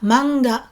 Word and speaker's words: manga: Attention, on ne dit pas manga en deux syllabes, manga, mais 3 syllabes. Ma-nga, ma-nga.